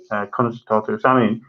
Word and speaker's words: Samhain: So Halloween in Irish stands for Samhain, somehow pronounced in Irish, Samhain.